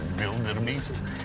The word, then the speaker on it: Wildebeest: On les appelle, quand vous entendez Blue Wildebeest, c'est écrit avec un W, eux le prononcent Wildebeest.